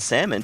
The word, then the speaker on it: salmon: at it well see I used to pronounce the L and salmon too and then my